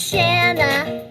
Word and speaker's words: Shanna: My name is Shanna. It rhymes with banana.